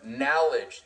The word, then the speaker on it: knowledge: So do your research, know your knowledge. Yes, the K is silent.